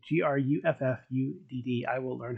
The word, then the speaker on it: Gruffudd: Gruffudd. I will learn how to pronounce it. Well, that's cool. Actually, Gruffudd is pronounced Griffith.